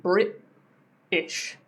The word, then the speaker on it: British: So again, like I said, instead of saying British, I would say British. It's like I cut that sound. British. There's no T there.